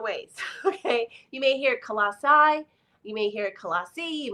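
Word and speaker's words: Colossae: description but he said in English it's typically pronounced colassi so I'm going to try to remember pronounce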